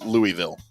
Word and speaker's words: Louisville: Is it Louisville or Louisville? feel like I've been saying Louisville because here in close to Dallas we have a suburb called Lewisville but it's spelled differently but I hear people from there say Louisville and I gag a little bit when I say it like they say Louisville. I'm not saying it like that anymore. It's Louisville.